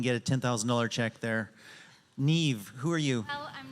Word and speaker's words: Niamh: knew it instantly when I saw it great Neeve I'm going to ask you to start um